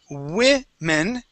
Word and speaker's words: women: Okay, so that O is not pronounced with an O sound. It's women. Okay, now, singular is woman.